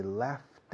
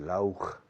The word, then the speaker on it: laugh: Tiene sonido de F. Termina en GH. L-A-U-G-H. Lauch. Pero se pronuncia laugh. Como half.